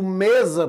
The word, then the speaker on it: mesa: Mas quando eu digo mesa, por exemplo, o fonema é Z, mas a letra já é diferente.